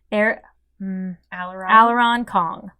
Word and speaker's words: Aileron Kong: Aileron Kong.